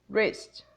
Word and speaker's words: wrist: The W does not appear here. It's wrist, wrist, wrist.